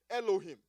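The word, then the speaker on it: אֱלֹהִים: Now that word translated angel in Psalm 8 verse 5 is a Hebrew word pronounced Elohim. Everybody say Elohim.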